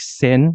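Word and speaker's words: Seine: is quite outdated but anyway so it is pronounced like sen like Amara s laka s so it is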